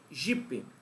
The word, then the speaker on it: jipe: com som de i na minha região por exemplo eu falo jip só que se escreve com e j i p e Jonathan mas aí como